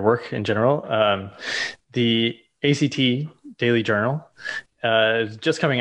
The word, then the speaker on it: ACT: i'm gonna first say it's act which is kind of cool in that act is pronounced as one word and it there's a